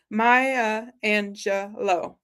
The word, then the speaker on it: Maya Angelou: Well, my last quote, before I say it, Sandy has been so kind to phonetically pronounce it for us. Maya Angelou.